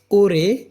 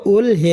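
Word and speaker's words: 올해: হয় জাংনিয়ন গত বছর ওরে এই বছর এটা ওল হে না হয়ে ওরে রিউলের পরে হিউ থাকলে রিউলটিং এর হিউতের স্থানে গিয়ে তার মূল উচ্চারণ উচ্চারিত হয় উচ্চারণ হয় না ওরে এই বছর নেয়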